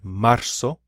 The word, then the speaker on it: marzo: is that Z remembers it's pronounced like an S so we have marzo Abril are real and